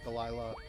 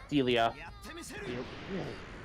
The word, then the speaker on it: Delia: Yeah, I've been seeing some comics of like Jessie and Delilah. Delia. Really? I thought it was okay. They pronounce it Delia in the English dub of the movies, so I've seen the